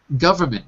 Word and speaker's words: government: a quick word look in the chat window government three syllables not for not govern Amin not govern